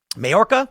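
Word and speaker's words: Mallorca: bodies in the water, then washed up in Morca in Spain. Mayora is how you pronounce it.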